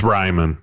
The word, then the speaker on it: Reiman: Is it Reiman or Reiman? It's Reiman. Yeah, Reiman. I've gotten Reiman. I've gotten Reiman, but it my whole entire life, but it is Reiman.